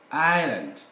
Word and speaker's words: island: to letter s now letter s the viewers is normally silent here when there is l i between a i and l isle island even at the end